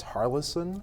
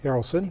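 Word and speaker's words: Haralson: prune apple trees she's got now sorry about pronouncing this harlison Harrelson Harrelson thanks and honey crisp trees okay where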